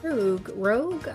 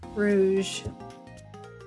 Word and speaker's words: Rouge: Is it rouge? Rouge. Yeah. Rouge. So it's like French.